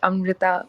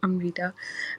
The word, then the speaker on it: Amita: speaking thanks Elizabeth uh just a correction on my name it's pronounced Amita not Amita um but yeah I'm